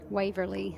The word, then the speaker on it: Waverley: Waverley, Waverley. as they say it down south. You got to roll your R's.